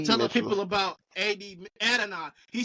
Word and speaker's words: Adonai: So Adonai.